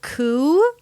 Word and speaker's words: coup: Coup, a silent consonant at the end.